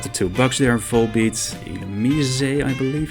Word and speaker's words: Illumise: Also have the two bugs there, Volbeat, Illumise, I believe it's pronounced.